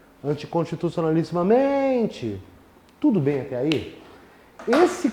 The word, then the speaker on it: anticonstitucionalissimamente: E a palavra anticonstitucionalissimamente é paroxítona. Sílaba tônica está aqui. Anticonstitucionalissimamente.